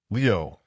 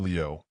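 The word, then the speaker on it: 留: The word for willow, Leo, sounds like the word Leo, which means to stay, to remain, to linger.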